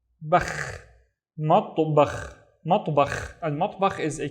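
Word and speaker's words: مطبخ: Matto, I have the ta, but with no vowels. Matto, bakh, matbakh, matbakh, and matbakh is a kitchen.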